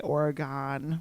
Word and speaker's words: Oregon: Tell it to the It's- people from Oregon who don't pronounce it correctly. They should totally say Oregon, right?